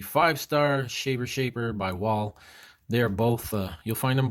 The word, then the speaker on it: Wahl: got the wah l i know it's pronounced wall but it's what l